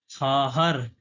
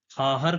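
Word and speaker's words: خواهر: कहते हैं भाई को खाहर तो वाव साइलेंट है इसमें वाव नहीं पढ़ा जाता है तो खाहर कहते हैं बहन को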